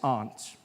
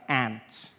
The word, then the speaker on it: aunt: For instance, I pronounce the opposite of uncle as aunt. I say my aunt. Out here. You say my aunt, which to me is an insect, which made me look